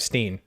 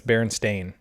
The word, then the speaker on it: Berenstain: So it's spelled with an A. A-I-N. Instead of Steen. Steen. The Berenstain Bears, yeah. Yeah, but it's Berenstain.